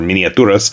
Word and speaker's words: Miniaturas: Us courtesy of mom Miniatures or miniaturas if we're going to go with the correct pronunciation from Spain and while they have